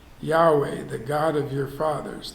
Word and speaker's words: Yahweh: in these early languages so it wouldn't be jehovah would be yahweh and it's actually represented in ancient hebrew by four consonants and the vowels then are put in later so you can pronounce it but the original word